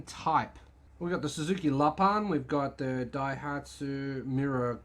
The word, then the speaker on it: Lapin: would have learned that lapan is uh it's not pronounced lapin because it's actually french and lapan is french for rabbit